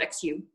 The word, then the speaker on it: Xu: That's spelled X-U, but it's pronounced Xu, which is always a fun fact.